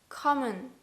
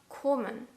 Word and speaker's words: kommen: In the word kommen, though, maybe you can hear it's not kommen, it's kommen. Ah. Do you hear that? O.